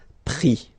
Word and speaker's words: pris: And then prendre, so e-n-d-r-e, will give es, pris, okay. Same thing here, you don't pronounce the final s, okay.